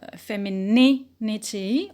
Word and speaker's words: femininity: very different qualities so we stress uh femininity on knee on the antibiotic and is